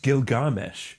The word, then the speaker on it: Gilgamesh: And it's pronounced Gilgamesh. Gilgamesh.